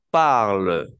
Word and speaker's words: parle: de quién uno habla cuatro personas se pronuncian de la misma manera y el IL el parle parle el verbo se pronuncia igual parle entonces por eso es